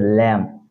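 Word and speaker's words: lamb: পাশাপাশি আছে কিন্তু বিরোচন হচ্ছে না এরপর হচ্ছে ল্যাম এল এম বি ল্যাম ল্যাম মানে হচ্ছে ভেড়া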